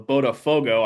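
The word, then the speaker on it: Botafogo: For those that don't know, uh Milton Santos Stadium is the home of Bodafogo. I hope I'm pronouncing that correct correctly.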